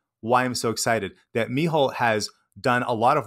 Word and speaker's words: Mícheál: l so two l's and and it's pronounced mihole and it's spelled m i c h e